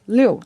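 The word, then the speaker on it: 六: So, because the number 6 is pronounced liu, and when you put them in a triple, 666, Okay.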